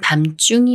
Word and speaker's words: 밤중: 읽어요 감사 이 말은 밤중이 맞을까요 아니면 밤중이 맞을까요 미음 받침이 초성 지을 만났으니까 초성 지이 쌍지 소리인 쯔가 되면서 밤 중이라고 읽어요 밤중 오늘의 엔딩 문장은